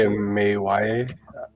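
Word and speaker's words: Amia: I do want to know how to spell it. But you would say A-M-A-Y-A, Emily, or?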